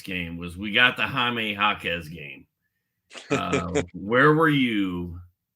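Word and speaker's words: Jaime Jaquez: was we got the jamee hakz game uh where were you for the hamee hakz game you were I'm just shocked I'm shocked that that's how you pronounce his name So Jamie jaquez um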